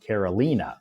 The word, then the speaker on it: Carolina: So it's spelled the same as her name, but her name is pronounced Carolina.